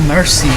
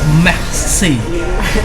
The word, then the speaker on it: merci: It's not even mercy. It's merci.